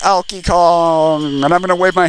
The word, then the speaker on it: Alkie Kong: was so it was olkey kong who oh elky kong i've been saying his name wrong this whole time although he just abruptly